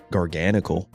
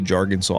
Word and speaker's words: Garganacl: aka Jargonsaw. I know some of you guys so mad at my Jargonsaw pronunciation, but unironically, that was the how I first pronounced this Pokemon when I first saw it.